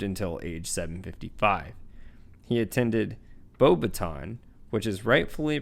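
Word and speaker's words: Beauxbatons: he attended bobaton which is rightfully pronounced bobaton in the film they pronounce it bobaton which is a french wizarding school located in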